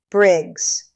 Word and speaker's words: Briggs: And I remember thinking, even from that distance, from that impossible vantage point, that is not how you say it. Briggs. 1 syllable.